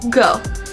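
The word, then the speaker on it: Gho: Is that how you pronounce it? G-H-O? Joe? Go? Go.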